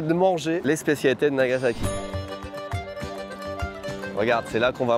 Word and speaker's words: Nagasaki: Oui, parce que ça se prononce Nagasaki et pas Nagasaki comme ça.